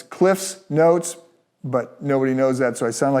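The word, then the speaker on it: CliffsNotes: The Cliff's Notes version of this, and I'll say the Cliff Notes. It's actually not Cliff Notes, it's Cliff's Notes, but nobody knows that, so I sound like an idiot.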